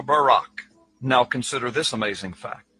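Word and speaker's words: ברק: So lightning or a flash of light in Hebrew is pronounced barak or barak.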